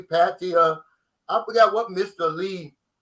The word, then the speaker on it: Pattaya: noticed that the prices even between bangkok and pattaya which is about about an hour and a